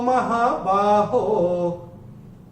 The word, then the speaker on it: महाबाहो: हैं, ये संबोधन है, इसलिए महाबाहो ही रहेगा, महाबाह नहीं होगा कि ओ आने पे विसर्ग का उच्चारण तीसरे चरण की समाप्ति पे यहाँ पे नहीं होगा, क्योंकि यहाँ पे महाबाहो संबोधन है।